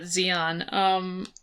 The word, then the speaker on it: Zeon: oh damn, they're called Zeon. They're cool. The bad guys are cool. It's like neon but Zeon. Oh yeah, and Z's a cool letter. They're not bright enough to be rhyming with neon though.